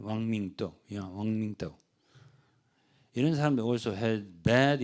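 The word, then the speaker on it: 王明道: 중국의 발음으로는 중국 발음으로는 왕밍도.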